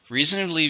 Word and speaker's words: reasonably: Reasonably means not 100%, but okay. It's an adverb. How many syllables? Reasonably. 4, stresses on the first one.